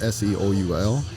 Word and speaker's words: Soul: So within the Holloway Interpreting Group, I also started a program called Speak with Soul, and that's Soul pronounced Seoul, where it's a program